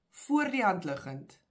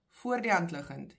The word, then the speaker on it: voor die hand liggend: So we say, voor die hand liggend, voor die hand liggend. You pronounce this as one.